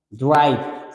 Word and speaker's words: drive: Silent in me refiero a que la E no se pronuncia. La pronunciación de este sería algo así como drive, ¿no?